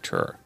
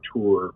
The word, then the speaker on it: Ture: We've heard his name pronounced Ture and Ture. We decided to just go with Ture.